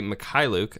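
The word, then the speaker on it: Mykhailiuk: for the young shooters fee makai Luke I believe is how you pronounce that his name was watching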